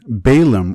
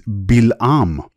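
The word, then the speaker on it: בִּלְעָם: In Hebrew, it is Bil'am. The first letter is bet with a dagesh, and with the vowel mark chirik below it, indicating a B sound.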